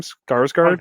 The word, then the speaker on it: Skarsgård: Skarsgård.